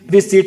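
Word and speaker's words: receipt: रिसीट का meaning क्या होता है, रसीद, और इसको रिसिप्ट नहीं बोलते, क्या बोलते हैं, रिसीट बोलते हैं। पी क्या होता है इसमें, साइलेंट होता है।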